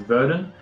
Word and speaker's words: Verdun: forward where he did where I'm blue it's pronounced Verdun we say which was the first city that